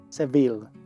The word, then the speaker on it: Seville: I was born in seville en inglés debes escribir y pronunciar el nombre de las ciudades de la forma en que lo hacen los anglosajones en inglés pronunciamos seville Mexico Where are you